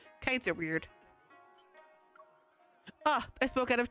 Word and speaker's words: Wei: His last name is Wei, but it's spelled W-E-I. I had to have it explained to me multiple times because my brain just kept forgetting.